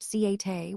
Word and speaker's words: siate: Lastly, siat is pronounced siate with 3 clear syllables. The middle syllable is stressed, so it's important to give a little extra emphasis there to sound authentic.